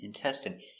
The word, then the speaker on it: intestine: So remember, the I N E is pronounced in, in, intestine.